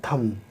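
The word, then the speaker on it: thumb: ठीक उसी तरह से थंब नहीं पढ़ते, इसको हम पढ़ते हैं थंब, बी की आवाज़ नहीं निकलती।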